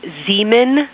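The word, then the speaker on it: Zeman: We believe that that is Zemen Crater.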